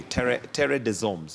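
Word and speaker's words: Terre des Hommes: you pronounce that tradition it's a french name okay terry de zombs okay there you go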